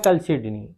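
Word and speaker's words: chalcedony: हकीक की सिर्फ एक ही एक किस्म है, वो है कलसिडनी। असल में इसकी प्रोनाउंसिएशन जो है वो कलसिडनी है, लेकिन प्यार से इसको मैं चलसिडोनी बोलता हूँ, चलसिडोनी।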